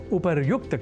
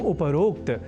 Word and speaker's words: उपर्युक्त: जाना चाहिए अर्थात उपरोक्त के स्थान पर उपर्युक्त कहा और लिखा जाना शुद्ध है यह हमें अवश्य स्मरण रखना चाहिए तो उपर्युक्त इस शब्द से बने वाक्यों के अभ्यास से हम उपरोक्त इस अशुद्ध उच्चारण और लेखन से स्वयं को दूर रख सकेंगे इस उद्देश्य